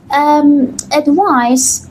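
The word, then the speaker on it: advice: بچهها اینجا دقت کنید ادوایس با سی نوشته شده اینجا اسمه خب اگر من به معنای پند و نصیحت اگر من این رو با اس میذاشتم اونوقت تلفظش چی بود؟ ادوایز و اون یک فعل بود درسته؟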